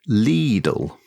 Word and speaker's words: Lidl: german stores now i understand however little is pronounced like the city leads a rather long eye like lidl you're not gonna get me to change that